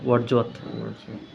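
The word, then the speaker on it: Wordsworth: এখানে Z sound হয়, এটা ওয়ার্ডসওয়ার্থ।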